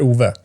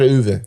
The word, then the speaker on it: Ove: How do you say it? En man som heter Ove. En man som heter Uwe.